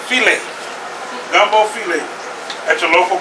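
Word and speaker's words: filé: Gumbo fowl, but it's pronounced filet.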